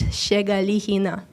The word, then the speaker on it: Shegalihina: Okay, so the way you pronounce it is Shegalihina.